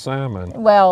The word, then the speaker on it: salmon: a tomato, but salmon is pronounced salmon without the L.